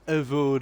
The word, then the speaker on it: Avowed: Je crois que ça se prononce Avowed.